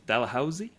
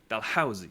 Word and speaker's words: Dalhousie: Dalhousie? Do you pronounce Dalhousie. the H? Dalhousie.